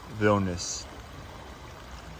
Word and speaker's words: Vilnius: Vilnius.